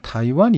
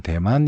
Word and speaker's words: 타이완: 있고요 그 다음에 이제 타이완 이 있습니다 뭐 예전에는 대만 이라고 읽었는데 요즘 문제다 이관 이라고 할 쪽 이 타이완은 뭐냐면 이